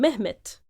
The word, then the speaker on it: Mehmet: and they in Turkish they tend to phonetically change the d, because in the Turkish language no word, phonetically speaking, can end with a d sound. So it's often transformed into t.